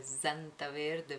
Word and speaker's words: Santaverde: cremine della Santa verde io pronuncio sempre zanta verde Perché è così che si pronuncia il nome di queste cremine in Germania e poi la Germania